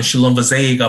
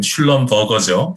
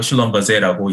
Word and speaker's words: Schlumberger: 그래서 실제 발음은 슐럼버제이가 맞는데 그냥 영어식으로 읽으면 슐럼버거죠. 슐럼버거인데 네. 실제로 슐럼버제라고 읽고요.